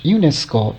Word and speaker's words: UNESCO: the initial letters but UNESCO is pronounced as a single word not UN ESC or as individual letters but in a DB